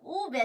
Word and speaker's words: uve: But be careful, the uve is going to become a V.